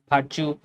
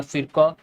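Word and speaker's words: Virchow: যে কে জার্মান চিকিৎসক জার্মান ভাষার লোকদের উচ্চারণ একটু আলাদা বাংলায় একরকম হতে পারে ইংরেজিতে একরকম হতে পারে এটা নিয়ে সমস্যা নাই নামটা মনে রাখতে হবে কি ভার্চুও বলতে পারো ফিরক বলতে পারো ঠিক আছে কি বলছেন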